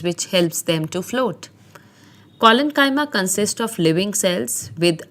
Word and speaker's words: collenchyma: There are three types of supporting tissues or simple permanent tissues, and they are pronounced as parenchyma, collenchyma, and sclerenchyma.